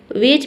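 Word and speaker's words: wedge: तो डी के बाद अगर जी ई दिखे तो वहाँ पे डी लेटर क्या रहता है, साइलेंट रहता है। ठीक है, यानी कि डी को हम नहीं पढ़ते हैं।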